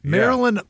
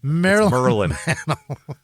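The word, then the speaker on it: Merlyn: Yeah, Marilyn. That is a crazy name. Mickey and Marilyn Mantel. Merlin. It's Mer Mer Mer Maryland like M R L Y N is how you spell it.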